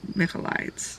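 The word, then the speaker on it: Michaelides: can guess you myself o no Alex mides it's mides I started the silent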